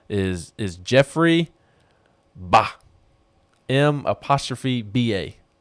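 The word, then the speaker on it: M'Ba: And his name is Jeffrey Ba, M''BA. I think the M is silent.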